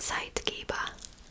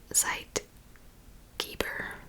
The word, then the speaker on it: Zeitgeber: its activity with the environment is called a Zeitgeber. German word. But I mean, if I didn't know German, I would have pronounced that Zeitgeber, probably. German for time giver. Zeitgeber.